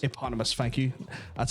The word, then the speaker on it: Eponymous: Can you pronounce that for me? Eponymous. Eponymous.